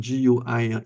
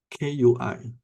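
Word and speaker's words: 癸: It's not Gui. So there's a difference. People who don't know, they'll say it's Gui, Gui, Gui. Sounds like ghost, but it's called Kui with a curt sound.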